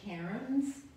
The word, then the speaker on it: cairn: jones farrow's work are called cairns and that's spelled c-a-i-r-n not karen like getting what we've been